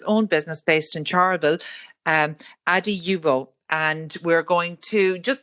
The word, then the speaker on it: Adiuvo: Is it Adiuvo? No? We say Adiuvo. People say it many different ways.